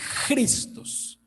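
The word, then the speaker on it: Χριστός: para allá cristos cristos pues la adecuada pronunciación sería cristos sino que como nosotros se han visto que nosotros nuestro idioma no tenemos que asiste este es el fonema cultural cristos entonces muchas palabras por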